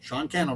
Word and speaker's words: Sean Cannell: Sean Cannell rhymes with YouTube channel.